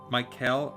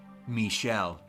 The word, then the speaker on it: Michel: I can't decide if it's supposed to be pronounced Michael or Michelle based on the spelling. Actually, somebody had left a comment on that in one of the past live streams. I actually think the correct pronunciation is Michelle. It's unfortunately though I've been calling him Michael the entire time, and but I've gotten